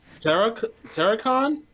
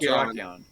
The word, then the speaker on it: Terrakion: Terracon? Is that how you pronounce it? Terrakion? Oh, the turtle. Terrakion. Yeah. Oh, no, Terrakion. Terrakion.